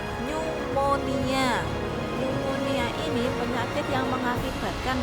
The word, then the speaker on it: pneumonia: Nomor 7 itu cara bacanya pneumonia.